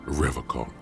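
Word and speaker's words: Revachol: But someone has to stay strong for Revocol. He pronounces Revocol with a hard K, unlike other people.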